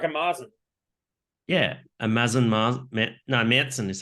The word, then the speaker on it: Märzen: Märzen is how you pronounce the style.